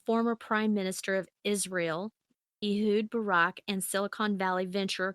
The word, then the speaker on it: Ehud: Ehud, yeah, Yeah.